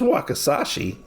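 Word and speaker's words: wakizashi: ends up taking out his wakashi yes his wakashi I happen to know how to pronounce that now because I listen to the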